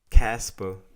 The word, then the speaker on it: Ka$pa: guest the first interview in my show welcome casper the one and only straight out of new